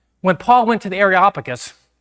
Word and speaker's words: Areopagus: When Paul went to the Areopagus, that's how you say it, Derek. You have to practice that, Areopagus.